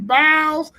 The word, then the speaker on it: Biles: Biles. Man, his mama said the S is silent. His name is Ryan Biles.